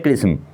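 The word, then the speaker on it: XRISM: रखना है सबसे पहले एक्स आर आई एसएम इसे प्रोनाउंस करते हैं कृष्म nasa's एक्सप्लोरेशन एजेंसी किसके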